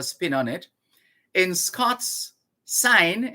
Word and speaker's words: syne: on it in scots sign s-y-n-e is pronounced like the english word s-i-g-n sign not sein some people like to